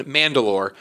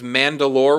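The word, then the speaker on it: Mand'alor: control pre visible becomes Mandalore which I believe is how you say it spelled manda apostrophe a lor that's like the leader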